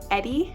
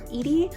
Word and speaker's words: Edie: follow our main character Edie, or Edie, not sure how to pronounce her name. It's E-D-I-E, Edie, I believe.